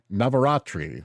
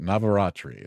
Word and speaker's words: Navaratri: Uh September 22nd through the 29th is Rashashana and Navat Navaratri is how you say it. Navaratri.